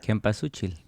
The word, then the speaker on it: cempasúchil: pronounce this flower? Cempasúchil.